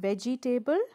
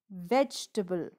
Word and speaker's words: vegetable: next word the next word is vegetable not veggie table but vegetable vegetable vegetables are good for health vegetables the